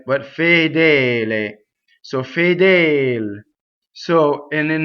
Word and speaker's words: fedele: Next, fedele. So this in its full form is two closed E's. Fedele. Okay, so not fedel or fadal, right? But fedele.